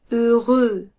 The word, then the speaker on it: heureux: Heureux. Heureux. Heureux. C'est 2 fois le même son E.